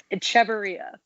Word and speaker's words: Echeverria: here, and, how do you say your last name? Echeverria. I had a feeling it said exactly how it looks.